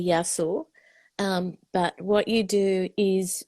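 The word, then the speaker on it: Γεια σου: Okay, so singular, you say yasu, but what you do is when you speak to people, you do the plural because then you're embracing everybody.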